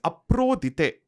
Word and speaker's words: Aphrodite: Similarly, in the Greek tradition, there is this Aphrodite, as you would say in the English language, in the anglicized version. She's Aprodite. That's how you pronounce her name in the Greek tradition.